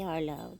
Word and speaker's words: Harlow: Say, well, it's going to be spelled like Harlot, but it's really Harlow.